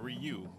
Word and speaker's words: Ryu: You is pronounced like you though. Yeah, Ryu.